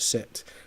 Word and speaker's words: Seth: It's pronounced Seth, but it's s e t h, right?